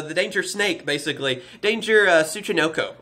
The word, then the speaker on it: Tsuchinoko: danger snake basically danger Tsuchinoko I believe is how you pronounce it yeah it's a snake